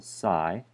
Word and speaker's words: psi: going to introduce this the symbol SI and it's spelled PSI.